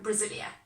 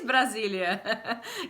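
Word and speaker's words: Brasília: Is that pronunciation okay? But actually, it's Brasilia. Wow, good job. It is Brasilia.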